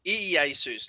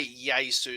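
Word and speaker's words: Ἰησοῦς: the asus jesus yeah it's the asus so it's ee asus not just jesus it's jesus or you can say yay sue so i don't know whether that's how they would have pronounced it but it's it it's it makes it easier to remember if you remember e a seuss so yeah okay and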